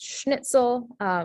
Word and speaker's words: schnitzel: So this is pronounced schnitzel, spelled with an SCH and not an SH.